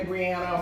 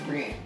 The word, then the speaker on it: Brienne: She hates when people say Brianna or Brianna because it's Brienne.